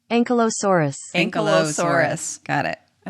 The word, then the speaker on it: Ankylosaurus: Ankylosaurus. Well, I said it wrong. Let's try that again. Ankylosaurus.